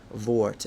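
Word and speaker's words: Wort: the R in German I know the W is a V vort and it's not vort it's vort is the guarantee of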